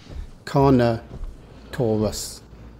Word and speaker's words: Carnotaurus: dinosaur names to say it has four syllables and you say it like this connor taurus don't forget to go